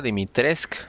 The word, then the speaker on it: Dimitrescu: Pero se supone que se pronuncia Dimitrescu.